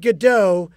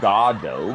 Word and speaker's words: Godot: It is actually pronounced Godot because it was like waiting for God. That was a thing. But that's okay. That's okay. Who played Godot in the Broadway production with Sir Ian McKellen and Sir Patrick Stewart?